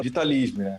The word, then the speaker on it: Vitalism: preciso então na verdade nós pronunciamos da forma mais tranquila vitalismo porque na verdade a procedência do nome é latinha cá então a